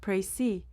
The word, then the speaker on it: précis: The word prey pronounced prey comes from French and literally means precision or exactness.